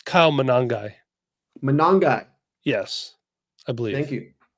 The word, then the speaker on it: Monangai: Monangai.